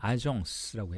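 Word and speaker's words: agence: 에이전시 프랑스로는 더 그 어 대리한다는 속성 그 의미가 더 강조되고 있는데 그걸 이제 프랑스 식으로 발음을 하면 아정스라고 해요.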